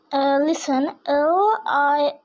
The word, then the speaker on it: listen: Listen, LISTEN, listen. এখানে আমাদের টিটা সাইলেন্ট। LISTEN, ten, listen.